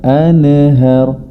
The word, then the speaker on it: أنهار: perlu kita perhatikan adalah huruf nun adalah bukan dari tergolong dalam huruf qalqalah. Jadi huruf nun itu bukan dari termasuk huruf-huruf qalqalah. Jadi cara membacanya jangan sampai dipantulkan. Seperti ini. tajri min tahtihal anhar, tapi ditempelkan ujung lidah dengan langit-langit ya. Anha.